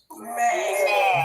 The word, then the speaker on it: mai: Mai.